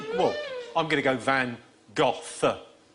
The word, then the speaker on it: Van Gogh: Van Gogh. We're after... How is it? Well, I'm going to go Van Gogh. Van Gogh.